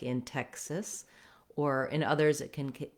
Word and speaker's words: Texas: the state name Texas, we have first syllable stress. So the tex syllable is long and the sis syllable is short and unstressed. Letter E says vowel eh in Texas, and in Texas, the X says the k and s sounds.